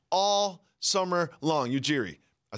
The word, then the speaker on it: Ujiri: the new head coach nurse and GM Messiah Siri all summer long Ujiri I said it wrong iOS a rock all